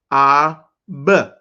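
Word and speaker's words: אב: The first word was father, and it is, let's pronounce it, ab, dropping the A at the end.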